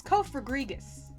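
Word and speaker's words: Cofagrigus: can't it it doesn't i checked it's co for grigas that's how you say this abomination of a king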